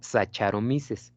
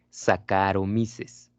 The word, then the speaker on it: Saccharomyces: Por ejemplo, si ustedes ven CH, se pronuncia como K, ¿sale? Entonces no se dice Saccharomyces, se dice Saccharomyces.